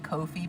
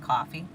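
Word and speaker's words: Ko-fi: KO uh SL fi it looks like Kofi but it's pronounced coffee so I did this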